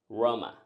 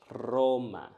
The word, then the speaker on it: Roma: And last, let's use the capital of Italy. Roma, Roma. But this is not how you should say it. You should say it Roma, Roma.